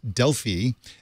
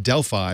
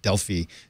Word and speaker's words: Delphi: But Sam said the company, I pronounced it Delphi, and he said, no, it's pronounced Delphi, which is, I appreciate the correction in pronunciation.